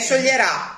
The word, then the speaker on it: scioglierà: no C E certo perché scioglierà quindi l'accento è sulla finale il mio Bao scioglierà